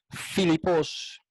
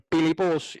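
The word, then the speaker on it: פיליפוס: a veces se dice Filipos. Es la misma letra P, pero a veces se pronuncia P como en Pilipos y a veces se pronuncia F como en Filipos.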